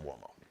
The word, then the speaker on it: Uomo: Italian spelled it's Uomo it's pronounced womo Italian next LIVE edition of